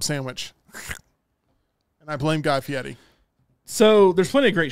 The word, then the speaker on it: Fieri: Guy Fieri. It's Fieri, but yes.